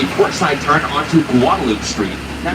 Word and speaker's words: Guadalupe: port side turn onto Guadaloop Street. Now, if you speak Spanish or aba espanol, you probably pronounce this as Guadalupe. Well, then why do we call it Guadaloop?